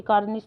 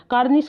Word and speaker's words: कार्निस: canvas मैंने शायद बोला सॉरी कार्निश था वो कई बार बोलते बोलते जल्दी-जल्दी के चक्कर में गलत शब्द का उच्चारण हो गया ये थोड़ा ध्यान देना कार्निस का मतलब होता है